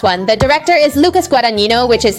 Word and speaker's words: Guadagnino: The director is Lucas Guadagnino, which is how his name is pronounced.